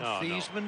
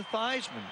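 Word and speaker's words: Theismann: as it is spelled instead of as it's pronounced see that's the problem I had from thievesman to Theisman the the fart trophy the favor trophy I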